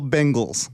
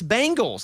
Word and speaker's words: Bengals: Bengal Bal Bangles no you're wrong it's Bengals like I'm saying you're saying bang like boom bang no Bangals what